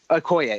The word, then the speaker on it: Okoye: You have Wanda, I forget how you pronounce her name. Okoye. Okoye, that's right.